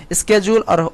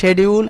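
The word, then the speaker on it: schedule: এখন তুমি যে সময় বলবে ওই সময় বলবে we will follow the cleaning স্কেজুল, অথবা এই জায়গায় শেডিউল, দুটার প্রোনাউন্সিয়েশন হয় স্কেজুল অথবা শেডিউল, অ্যান্ড পার্টিসিপেট উইলিংলি, মানে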